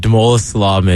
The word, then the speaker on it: Damola Salami: Our special guest today, I'll make sure I pronounce this name right, Damola Salami from Gamecock Men's Soccer. Did I say that right? Yeah, you did. Damola Salami.